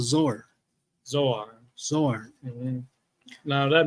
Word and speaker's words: Zoar: Therefore, the name of the city was called Zoar. Zoar. Mm-hmm. Now that name, what verse was that? 22. 22. Zoar just simply means insignificance. All right. Taza'ir is how it's pronounced, but it means insignificance.